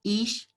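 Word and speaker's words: איש: hebreo la palabra varón nosotras la podríamos pronunciar como is y la palabra mujer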